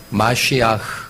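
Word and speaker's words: מָשִׁיחַ: 그 소리 나는 대로 읽으면 저게 마시아흐 그렇게 읽습니다.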